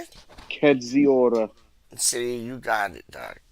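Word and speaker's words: Kędziora: Kedziora.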